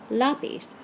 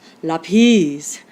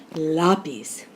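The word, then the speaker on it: lápiz: it would be pronounced lapis with the accent on the last syllable but that's not how we say l-a-p-i-z we say loppies with the accent on the a and that's why we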